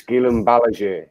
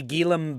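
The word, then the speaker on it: Guillem: a boring two weeks it's it's gilum it's it's spanish lolo come on so so it wouldn't be gillam baraje i'll tell you that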